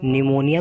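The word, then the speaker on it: pneumonia: निमोनिया में P होगा silent.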